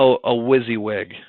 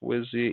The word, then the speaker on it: WYSIWYG: little toolbar here this toolbar is called a WYSIWYG okay you guys are like what it's called